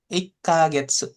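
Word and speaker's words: 一ヶ月: Ini artinya sebenarnya sama, cara bacanya juga sama ya. Ikagetsu.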